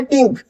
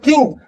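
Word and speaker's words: think: अब ये तो क्या है? टिंक। इसमें कुछ भी आपकी जीभ प्रेशर नहीं कर रही। टिंक बोल के देखिए। लेकिन जैसे ही आप नीचे आओगे थिंक तो आप देखेंगे आपकी जो टंग है वो दांतों से टच हो रही है अंदर की तरफ से। तो दिस इज थिंक।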